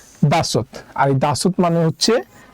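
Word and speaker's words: 다섯: নিচে আছে আরেকটা সিউদ তো এই বাচ্চি সিউদটা বাচ্চিমাম আকারে বসলে উচ্চারণ হবে ত তাই স এর সাথে আমরা আরেকটা ত নিলাম তাহলে উচ্চারণ হবে দাসুত আর এই দাসুত মানে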